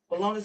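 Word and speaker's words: Bolaños: Bolonis spelled Bolanos.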